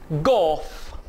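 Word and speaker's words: golf: से इमिटेट करना है, एफ, फॉक्स ट्रॉट, जी, गोफ, जी, गोफ, गोफ, एल साइलेंट होगा, H, hotel, H, hotel, hotel नहीं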